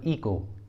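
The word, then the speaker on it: echo: For example इको, इको, यहाँ पर एच सी के बाद आया है इसलिए एच को प्रोनाउंस नहीं किया गया है, एच साइलेंट है, इसका प्रोनाउंसिएशन होता है इको, इको।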